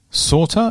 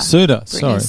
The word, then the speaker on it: Sauter: Well, you're fighting Brittany Sauter, is that how you say it? Suter. Sorry, yeah, Brittany.